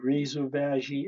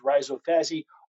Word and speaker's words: rhizophagy: so root eating root eating some people say rizovagi it is a whole bunch of different ways to pronounce it but it's rhizophy r h i z o p h a